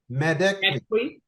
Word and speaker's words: Madekwe: David Harbour, Orlando Bloom, Archie Madekwe. Am I saying it right? Madekwe.